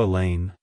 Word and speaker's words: Elaine: Helen it's pronounced as Elaine elain Elaine to pronounce it correctly emphasize the lane and make sure to pronounce the the sound as a long e like hello Elaine goodbye Elaine if you found the